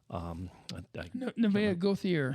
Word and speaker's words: Nevaeh Gauthier: Nevaeh Gauthier is how you say her name.